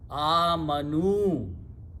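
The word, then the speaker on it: آمَنُوا: When you pronounce this, this dhamma has to change, this fatha has to change to dhamma for the vav pronunciation, otherwise you may not be able to pronounce. Amanu.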